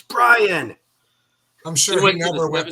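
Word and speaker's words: Bryon: As a Jazz fan, we always had to endure people calling him Byron Russell, and it's Brian.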